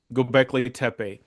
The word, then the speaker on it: Göbekli Tepe: Göbekli Tepe.